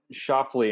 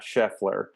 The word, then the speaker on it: Scheffler: sure that i i i said shuffly and not scheffler yeah it was a mispronunciation thing that's what it was